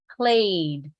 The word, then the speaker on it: played: played repeat with me played play Ed how do you pronounce it only a simple D played played played so